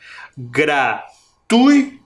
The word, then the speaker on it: gratuito: gra a ante penúltima gratuito também quase não dá para perceber mas a minha boca abre um pouquinho mais o som parece que vem mais forte gratuito não é verdade